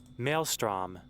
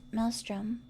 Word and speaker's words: maelstrom: Maelstrom. Maelstrom. Maelstrom. Maelstrom. I always said Mel Melstrom. Melstrom.